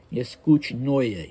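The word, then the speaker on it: Neskuchnoye: that OE, you should insert a Y between the O and the E to give it the proper phonetic spelling. So you see that O and E, and you know it's going to be pronounced Oya, Neskuchnoya, Ilinskoya, Tsarskoya.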